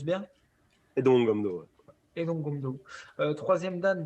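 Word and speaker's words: Haedong Gumdo: Et tu es 3e dan de Aidong Gumdo, je prononce bien. Aidong Gumdo, ouais.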